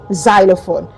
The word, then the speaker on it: xylophone: And then lastly we have the letter x in the word xylophone, not xylophone, okay? Xylophone.